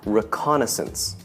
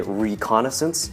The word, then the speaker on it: reconnaissance: reconnaissance reconnaissance reconnaissance and stress on the con reconnaissance some people might say reconnaissance which is okay too